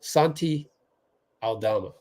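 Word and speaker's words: Santi Aldama: good I mean Alama Santi Alama I believe is how you pronounce that he's solid I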